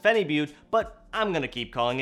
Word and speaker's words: phenibut: effects these are things like alpha gpc and fanny bot now i realize some of you commented that it's actually pronounced phenibut but i'm gonna keep calling it funny but so these two are probably two of my